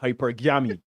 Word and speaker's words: hypergamy: Hypergamy. Right? Hypergamy. Like some that is very enthusiastic origami.